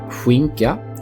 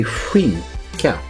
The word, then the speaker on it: skinka: The SK is pronounced almost like the first sound of whew, And in sounds the same in English. And the ka at the end would be like the crane going kaka, but you just don't use the first one.